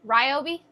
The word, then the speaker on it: Ryobi: Baby, can you go get the Wyobi fan? What is it? Wyobi. Yobi. Ryobi.